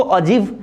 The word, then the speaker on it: ogive: तो ऑगिव देखेंगे, इसको अजीव भी प्रोनाउंस कर सकते हैं हम, ठीक है।